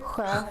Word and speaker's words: sjö: In all these words, we can see the SJ combination, and that's why it's pronounced like sju, sjö, sjal.